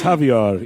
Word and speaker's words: Javier: himself to people he's javier it rhymes with caviar oh he should have